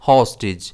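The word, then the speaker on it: hostage: इसे हम प्रोनाउंस करेंगे होस्टेज। इसमें स्ट्रेस एच पर रहता है।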